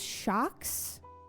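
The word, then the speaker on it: Shokz: I use Shocks. headphones. Um, I think it's spelled S H O C K Z, like with a Z at the end.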